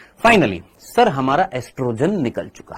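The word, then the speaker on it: oestrogen: ये जो एस्ट्रोजन जो होता है, एस्ट्रोजन को इंग्लिश में हम एस्ट्रोजन तो लिखते हैं, लेकिन उसके आगे ओ आता है, ओ साइलेंट होता है, तो एस्ट्रोजन ही बोलते हैं। वैसे ऑयस्ट्रोजन होता है, जो अमेरिकन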